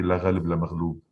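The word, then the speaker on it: لا غالب ولا مغلوب: We say "La ghalib la maghlub," because it rhymes also, which means no one won and no one lost during the war.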